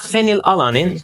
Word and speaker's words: phenylalanine: In the case of phenylalanine, the P and H are pronounced F.